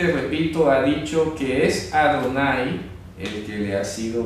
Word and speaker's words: Adonai: No no sale señor sale el nombre propio adonay adonay entonces pronuncia a Donald ahí no sale como tanto como señor si nos sale adonay Y